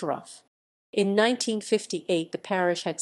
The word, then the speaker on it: Rougham: the ward touches chattacher thurston rattleston the fornhams and great barton morton hall lavinham haringer and southgate roughham is pronounced rough in 1958 the parish had settlements at mouse